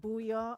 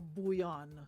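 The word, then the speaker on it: bouyon: It's pronounced booyah or bouillon? No N. No N. Booyah. Booyah. Okay. Yeah. Because a lot of people have to say bouillon. It's a Creole word, man.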